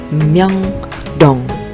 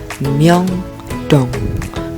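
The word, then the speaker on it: 명동: Kita baca dari miem, yo, dan ieng plus diget, o, dan ieng. Kita baca seperti apa? Ya, Myeongdong, Myeongdong, Myeongdong, Myeongdong, Myeongdong. Ya, ini nama tempat Myeongdong.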